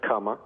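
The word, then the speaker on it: Kama: K-A-M-A, that's comma. Right. Kana is K-A-N-A. Aloha, you know how to spell that, A-L-O-H-A.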